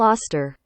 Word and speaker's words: Auster: here and check it out how do you pronounce Paul AER Paul auster okay I got it right Paul AER American